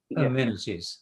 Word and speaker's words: amenities: amenities you said rajes amenities so stress amenities I've been learning swimming